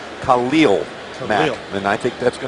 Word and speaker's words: Khalil Mack: Now, a lot of people say, wait a minute, pronounce his name correctly. We talked to him. He wants to be known not as Khalil Mack, Khalil Mack.